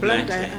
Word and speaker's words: Blantyre: Is that how you pronounce Oh, it? Blantyre.